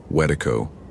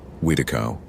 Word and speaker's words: Wendigo: Wendigo, wedo, wedo. The pronunciation varied by tribe.